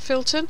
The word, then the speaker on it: Filton: the Beaufighter the Blenheim and so flip filt Filton is that the right way to pronounce it Filton was alright a target for the left during